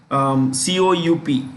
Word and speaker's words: coup: COUP is pronounced with the P in silence.